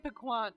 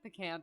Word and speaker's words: piquant: I used to say it piquant, but I'm pretty sure it's like piquant or something.